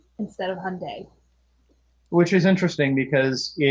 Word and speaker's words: Hyundai: they get really upset if you call them hun down instead of Hyundai which is interesting because in the Korean yes